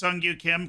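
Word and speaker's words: Kim Seung-gyu: antagonize here it's pronounced sungyu Kim Koreans say their first name at the end exactly and its first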